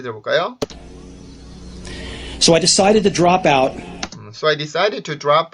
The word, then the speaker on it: drop out: 근데 여기에서 drop out을 drop out이라고 하는지 drop out이라고 하는지 들어보세요. So I decided to drop out. 어때요? drop out인가요? drop out인가요? 된소리 느낌이 강하죠.